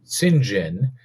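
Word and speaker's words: St. John: was it was spelled like St John but pronounced singen and you know there's little kid me going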